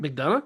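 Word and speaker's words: McDonagh: Mcdana.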